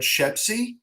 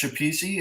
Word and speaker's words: Fred Schepisi: house 1990 directed by fred shepzi which should be pronounced chapisi it's not for some reason that i don't understand um starring uh james no um